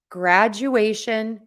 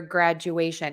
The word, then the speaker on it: graduation: so congratulations on your graduation it's that you in there that I think you were all hearing that is throwing you off so just remember there's that you or Jew in there that um add that